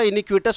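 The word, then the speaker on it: iniquitous: और हमने बोला था इनिक्यूटस में टी को साइलेंट नहीं करना, टी को प्रोनाउंस करना, इसको उच्चारण में लेना है।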